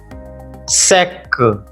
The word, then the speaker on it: sac: Sac, which means bag. Here, the last letter is C, so we pronounce consonant C in the word sac.